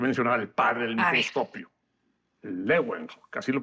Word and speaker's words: Leeuwenhoek: Pero, y aquí tenemos que mencionar al padre del microscopio, Leeuwenhoek, así lo pronuncian Sí, los holandeses, sí, Leeuwenhoek.